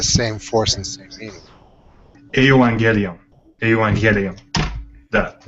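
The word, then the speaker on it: εὐαγγέλιον: Remember, the G is a GY. Does it make sense? Like when you order a gyro, you're ordering a hero. Right. Yeah, that's the way I pronounce it. I don't say gyro. Hero. It's almost like a GYH.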